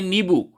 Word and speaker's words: नींबू: और अगला शब्द नींबू, ठीक शब्द है नींबू, कोई अनुस्वार नहीं है। अब आप उच्चारण करते हैं नींबू, आपने उच्चारण ही किया नींबू, आपने उच्चारण नींबू किया तो आपको लगने लगता है कि यार विसर्ग तो अनुस्वार तो आएगा ही, ऐसा बिल्कुल नहीं है, उच्चारण है नींबू।